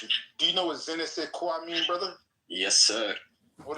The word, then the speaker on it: je ne sais quoi: Do you know what je ne sais quoi mean, brother? Yes, sir. What does that mean, brother? That means you're a real African. It is pronounced je ne sais quoi.